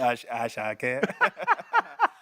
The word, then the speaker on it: Ashake: Say Ashake. Oh, the Ashake. Say it. Go on. Say it again. Ashake. Ashake. Yes. Go on, Sarah. Ashake. Good. That's how you pronounce it.